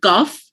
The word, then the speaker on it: cough: when you pronounce the word cuff, it is the GH is you don't pronounce the GH the way it is supposed to. You pronounce it with an F sound, right?